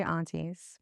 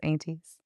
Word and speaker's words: aunties: you pronounce it um well I'm not from Dallas so I'll say aunties but everybody I know in Texas is aties okay and then what